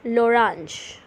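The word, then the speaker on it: l'orange: la banane coming up is orange it is pronounced as lorange lorange lorange up next we have pineapples they're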